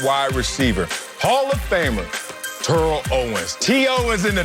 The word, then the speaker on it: Terrell: do it at wide receiver hall of famer turo owens t.o is in the top three i